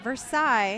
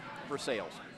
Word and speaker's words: Versailles: And I've got family that lives not too far from Versailles, Kentucky. Not Versailles. No. Versailles.